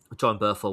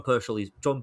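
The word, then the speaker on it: Bernthal: Give John Burchell his due. I think I may have said his name wrong there, but still, um, John Berthel. That's it.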